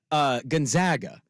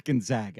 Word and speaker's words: Gonzaga: Gonzaga. When people Gonzaga. No, it's not. It's Gonzaga. I'm like, how do you say RAG? Rag? Okay. So why would it be Gonzaga and not Gonzaga?